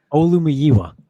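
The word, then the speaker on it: Olumuyiwa: Olumiyiwa.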